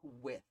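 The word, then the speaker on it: Wythe: to my phone uh mr with not white as i mis pronounced it for most of my life with despite the e i always thought the e made it white anyway mr with is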